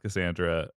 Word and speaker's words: Cassandra: a regular C so um but it is pronounced Cassandra uh at Le at the very least colloquially